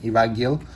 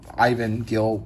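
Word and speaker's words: Iván Gil: I am pretty sure he is Spanish. So, I will be saying it Ivan Gil. Even though, Ivan Gil might be a better pronunciation for English.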